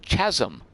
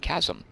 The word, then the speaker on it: chasm: as a kid, and probably pronounced it Scythe, along with chasm, for many years, before I was ridiculed for doing it wrong by someone and learned forever that it's scythe and chasm.